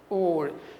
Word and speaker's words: were: Were, observe a pronúncia e não é were. Were em inglês é onde, é outra coisa, tá? Aqui é were, was, were, ok?